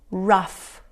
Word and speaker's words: rough: Tough, rough, cuff, laugh, enough. Good job. Estas palabras lo que tienen en común es que la combinación GH se pronuncia como F, ¿ok?